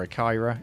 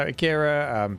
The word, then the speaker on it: Akira: um other ones include Akira or a Kyra Akira Kyra Dave you always correct me on my pronunciation Akira I said it right first time this time um so Akira Beetlejuice there's some Star